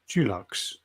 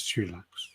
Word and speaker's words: Dulux: Why do you keep pronouncing Dulux? That's Dulux.